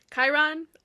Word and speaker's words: Chiron: Brunner tells Percy his name is actually Chiron, and he took a leave of absence, which Chiron, also one of the things that I mispronounced as a child.